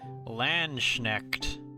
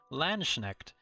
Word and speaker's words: Landsknecht: Landsknecht. How do you say Landsknecht? Landsknecht.